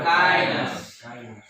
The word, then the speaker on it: kindness: Contohnya yang kindness ini kan D-nya hilang.